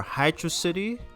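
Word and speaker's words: Hydrocity: On to Hydroity or Hydro City, whichever you want to pronounce it.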